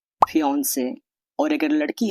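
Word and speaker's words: fiancée: अगर मंगेतर लड़का हो तो फियांसे और अगर लड़की हो तो फियांसे। दोनों शब्दों का उच्चारण प्रोनाउंसिएशन एक जैसा होता है।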